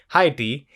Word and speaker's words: Haiti: her home country of haiti or as i learned it's pronounced as uh heidi we also spoke and